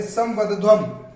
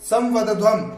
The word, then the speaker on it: संवदध्वम: संगच्छध्वम एक साथ चले, संवदध्वम, संवदध्वम इसी प्रकार से उच्चारण करना है आपको, ठीक है।